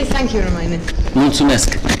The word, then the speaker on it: Mulțumesc: Mulțumesc. Mulțumesc.